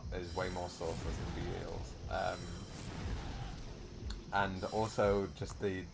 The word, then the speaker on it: Belial: is way more sauceless than Belial's. And also just the sound effects and the like visual effects of Belial's or Belial's. I've switched between them. The game pronounces it Belial.